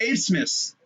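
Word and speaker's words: Abmas: But here's Abe Miss. I think that's how I say his name. That's how it's spelled. That's how they just saying it. The way the announcers say it's like Abe Smith.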